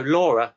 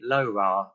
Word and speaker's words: LoRa: that oh right so laura i pronounce it as in the girl's name other people say lora as in it is